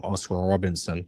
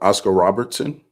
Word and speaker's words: Oscar Robertson: How much higher do you have to go on Oscar before you stop calling him Oscar Robinson and start calling him Oscar Robertson? You said what? Oscar Robertson?